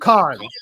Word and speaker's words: Cannes: Cannes.